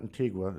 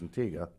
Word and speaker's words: Inga: we met over at over at Inga not intiga it's called pronounce Inga I found that out from the natives that's where my sister